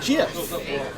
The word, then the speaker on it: GIF: created that flower matter he says it's pronounced jiff and I'm like okay